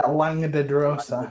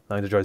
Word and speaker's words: Langdedrosa: Yeah, Langdedrosa. Longdedosa. Langdedrosa Cyanrath.